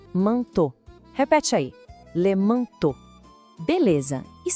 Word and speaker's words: manteau: Em francês, sempre que aparecerem essas três vogais juntas, E, A, U, o som vai ser de O. Simples assim. Então a gente lê manteau.